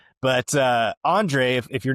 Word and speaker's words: Andrej: yeah, silent J there for sure. But Andrej, if you're not familiar with who he is a computer scientist.